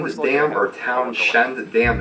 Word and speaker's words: Townshend: end with lamb or Townshend the dam it's a very weird spelling and pronunciation T o WN SH E and D anyways awesome little bridge